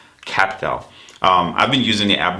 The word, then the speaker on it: Qapital: I don't know if you've heard about this app called QAPITAL, spelled with a Q. So QAPITAL, QAPITAL.